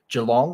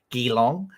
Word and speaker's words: Geelong: It's in Melbourne, or just outside Melbourne, at a place called Geelong, or as Americans call it, Geelong. We always find that funny when they pronounce it wrong.